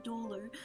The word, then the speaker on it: dolor: She told you in a voice that was steeped in Doleer that all she that she had been feeling lonely. I I applaud Bailey for pronouncing Dolor actually correctly.